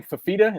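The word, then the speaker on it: Fifita: But the sophomore quarterback, is his last name Fafita? Is that how you pronounce it?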